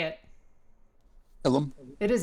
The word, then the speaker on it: Ilum: Ilum? It is Ilum.